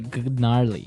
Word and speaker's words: gnarly: So an interesting word, it's spelled Gnarley. Okay, so, but you don't say gnarly. No. You say gnarly.